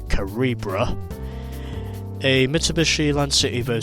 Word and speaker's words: Calibra: voxel karibra turinka as which i've been mispronouncing by saying calibra it's actually karibra a mitsubishi land city